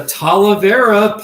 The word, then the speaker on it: talavera: this is random but how do you pronounce televera art here's what i found uh vera pottery it's talavera pottery right talavera pottery i